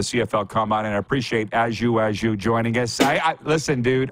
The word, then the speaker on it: Ajou: My name is Ajou. It's pronounced Ajou.